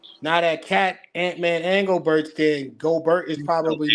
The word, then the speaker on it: Gobert: Pronounce Gobert, but whatever. That's it. That's what I'm saying. It's Gobert.